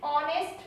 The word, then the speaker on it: honest: Another example is honest man. In this honest h is silent, so use article an.